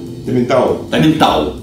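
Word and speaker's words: Tomintoul: Таминтау. Это виски называется Таминтау. Таминтау. Пишется OU, читается АУ.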